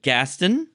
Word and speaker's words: Gasten: And Mama Sass, this elegant woman here, and this dignified fellow is Gaston. Am I pronouncing that correctly?